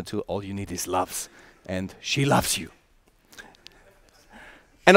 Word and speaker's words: LUFS: So LUFS is basically our new unit we are talking about, and in the English language it's very nice because you can pronounce it loves, you know.